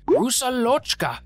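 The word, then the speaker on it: Русалочка: And it's called, hold on, let me say it slowly, Rusalochka, which is how you say The Little Mermaid in Russian.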